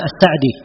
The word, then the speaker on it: As-Sa'di: As-Sa'di, ya, sebagian dari ulama kita ada yang membacanya As-Sa'di, ada yang memfathah sinnya dan ada yang mengkasrahnya.